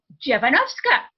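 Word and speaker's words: Dziewanowska: name and there's not a blink they go javanovska and i go well look at my name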